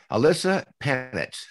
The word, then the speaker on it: Ilyssa Panitz: who can just like our expert today so alyssa panitch correctly pronounced is a divorce journalist and columnist she